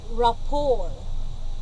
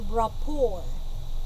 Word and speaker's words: rapport: So this is the word rapport. We pronounce this as rapport.